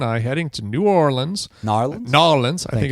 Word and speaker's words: New Orleans: Nolans, I think it's how it's pronounced.